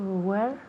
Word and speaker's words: wear: Now, este verbo to wear se pronuncia igual a la palabra donde en inglés, right? Tiene la misma pronunciación.